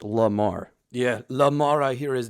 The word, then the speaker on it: Lamar: he is you know his name is Lamar not Lemar yeah lemur Limar La Cucaracha it doesn't matter well it's pronounced Lamar yeah Lamar I hear